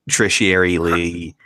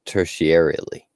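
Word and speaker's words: tertiarily: I would be like trishy airily involved with someone who possibly killed a bird that they try to go it's pronounced tertiary Lee I'm six glasses wine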